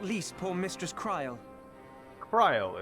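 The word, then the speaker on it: Krile: Kryl is how you say it.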